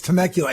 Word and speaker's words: Temecula: That's Temecula.